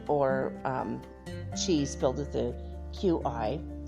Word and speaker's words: Qi: cheese filled with the Qi I'm not gonna say key cuz that's not how you say it but some people do say key like ki but it's similar to